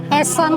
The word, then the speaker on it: essen: di bahasa Jerman yang kata makan kan essen nih tapi itu pronunciation-nya itu essen kak jadi kayak beneran kak jadi disuruh ini